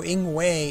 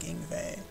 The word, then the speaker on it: Ingway: her twin brother and so in way is likely a mistranslation or mislocalization of yngwie um I think in the Japanese they do call him anyway but I think it's pronounced like yngwie I can't remember it's